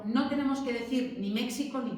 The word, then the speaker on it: México: quedado allí fosilizado, pero a la hora de pronunciar no tenéis que decir ni México ni Texas, es México y Texas. Y esa X, algún año, hace muchos años lo preguntaban, ¿cómo se leía esa letra? Esa letra en castellano se lee como J, porque viene de esa J del siglo XVI, ¿de acuerdo?